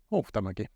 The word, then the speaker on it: Huhtamäki: How do you pronounce it? Huhtamäki.